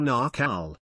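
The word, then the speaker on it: Naacal: this cycle it was called The Knack all or narcal rhymes with McCall mystery school where they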